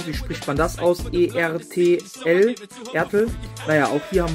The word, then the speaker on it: Ertl: Wie spricht man das aus? E-R-T-L, Ertl.